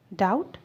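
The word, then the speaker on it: doubt: डाउट, शक। बी यहाँ पर साइलेंट है इसलिए आप इसे डाउट पढ़ेंगे।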